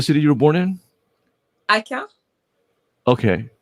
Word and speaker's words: Aquin: And how do you pronounce it? Ican?